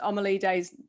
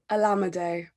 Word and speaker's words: Olamide: I know I've said Omalide's name wrong, and I'm so sorry. Have I said it better there? Olamide. Olamide.